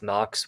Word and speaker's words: NNOXX: So the company is called NOXX. We spell that NNOXX, like nitric oxide oxygen.